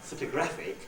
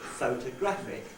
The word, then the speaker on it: photographic: If I say the word in isolation, it's not photographic, but photographic.